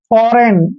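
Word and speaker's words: foreign: फॉरेन में क्या है फॉरेन में सबसे बढ़िया चीज है कि एन से पहले जी आया है जी का उच्चारण हमने नहीं करना है जी साइलेंट है फरेन पढ़ेंगे सीधा फॉरेन फॉरेन जैसे विदेश होता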